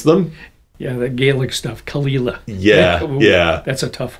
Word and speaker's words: Caol Ila: And I still get people arguing with me that they're not that I'm not pronouncing them, but I say Kalila.